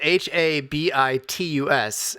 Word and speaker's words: habitus: It's like habit, right? Just hear the word habit.